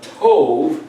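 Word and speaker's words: טוב: with endearment, then if I see this word pronounced tov, it means good.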